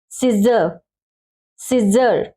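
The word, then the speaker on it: scissors: सिजर, सिजर, ठीक है। इस सी को हम क्या करेंगे, साइलेंट रखेंगे, सीधा पढ़ेंगे सिजर्स।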